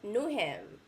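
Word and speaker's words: Newham: on ham sandwich nah no new ham right that's how you pronounce it knew him the rest of the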